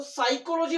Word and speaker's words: psychology: এরপরে দেখো সাইকোলজি বানানটা কোনটা আছে। সাইকোলজি স্পেলিং মিস্টেক থেকে কোশ্চেন দিয়েছে সাইকোলজি। অপশন এ ছিল PSYCHOLOGY সাইকোলজি। অ্যাকচুয়ালি পি এর উচ্চারণ সাইলেন্ট থাকে এখানে, তাই এখানে হচ্ছে সাইকোলজি স্পেলিংটার প্রথমেই পি দেওয়া আছে।